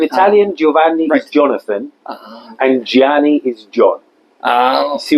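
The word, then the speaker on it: Gianni: me your name oh yes my name is Giani say how do you say that g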